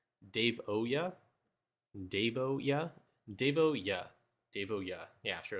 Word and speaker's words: Davoyuh: Today we have, hold on, can you give me the pronunciation of how to say his account name? Davoyuh, Davoyuh, Davoyuh, Davoyuh.